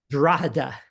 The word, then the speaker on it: Drogheda: But he So did say, it's I had a decent, Drogheda, how did you say it? Drogheda.